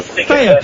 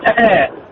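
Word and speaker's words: Taher: Thea, can I ask a lazy question? Yeah. Where is your name from, man? It's actually pronounced Teher. Teher.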